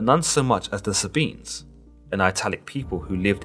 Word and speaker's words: Sabine: Other pronunciations of the Sabine include Sabine and Sabina, but for the sake of this video, we'll be going with Sabine.